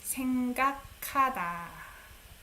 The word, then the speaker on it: 생각하다: You pronounce it as K. 생각하다.